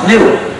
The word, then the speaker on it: gnu: of word play because the dictionary says the g is silent the dictionary says it's pronounced new so anytime you want